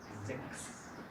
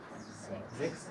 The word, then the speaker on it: sechs: El tercer caso es si viene después del CH una S, se pronuncia como la K. Sechs. Sechs es un número.